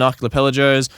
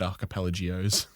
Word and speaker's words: archipelagos: Archipelagos. That's what I said, isn't it? No, you said archipelagios.